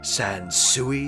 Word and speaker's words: Sans Souci: Find us at Crossroads Shopping Center on Sansui Parkway in Wilkes-Barre. Did I pronounce it correctly that time? Sansui is right?